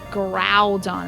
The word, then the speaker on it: Groudon: sure how to pronounce Grodon. Growon is how you pronounce it.